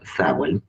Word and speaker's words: Samhain: Happy Halloween, or as the witches like to call it, Samhain, which even though it's spelled Samhain, is pronounced Samhain because it's from one of those Celtic languages.